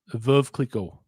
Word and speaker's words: Veuve Clicquot: Veuve Clicquot. I do speak French. How do you pronounce it? Because I know I butchered it. Veuve Clicquot. Perfect.